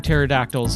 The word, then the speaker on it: pterodactyl: The reason you can't hear pterodactyls are when they go into the restroom is because they the pee is silent.